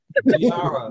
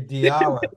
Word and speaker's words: Diarra: the show di that how to pronounce my name diara okay diara thank you with a d yeah there I just